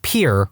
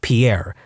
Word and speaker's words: Pierre: his sixth grade teacher she was pronouncing the state capital of South Dakota Pier wrong. She kept saying Pierre, two syllables like the French name, and he said it was pier, one syllable, like what you fish off of.